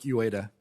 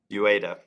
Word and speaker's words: Ueda: I've got a little crisis of confidence since I've heard 4 or 5 different pronunciations. My name is Jaime Lizarga. Lizarga. And mine is Ueda. Ueda.